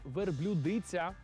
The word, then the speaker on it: верблюдиця: вона верблюдиця чи верблюдиця я чесно кажучи шокувався коли дізнався що правильно саме верблюдиця А ви це знали